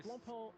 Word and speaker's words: Blancpain: Nah, it's Blancpain. It's Blancpain. We're going with Blancpain. No. Blancpain. That sounds French.